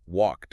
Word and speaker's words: walked: It is physically easier for the human mouth to just add an unvoiced T sound at the end. So walked naturally becomes walked.